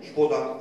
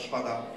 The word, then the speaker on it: szpada: zasad, czyli to występowanie dawnego A, długiego, pochylonego, które się wymawia jak O. Czyli oni nie mówią szpoda, zamiast szpada, szuflada, zamiast szuflada, tylko mówią normalnie szuflada.